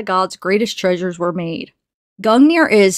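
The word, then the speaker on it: Gungnir: so we have gongnir Old Norse pronounced gang near oh cool I was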